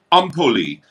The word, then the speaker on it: Empoli: This is empoli as you would say. Ampoli. You really pronounce ampoli.